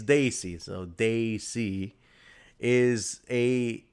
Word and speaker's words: desi: people who don't know the word desi which they under pronounce and desi it's Daisy so desi is a